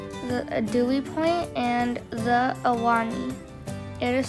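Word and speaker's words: Ahwahnee: Dewey Point, and the Awani. It is spelled, this one, it's a kind of weird spelling. It's spelled like A-H-W-A-H-N-E-E, Awani, something like that.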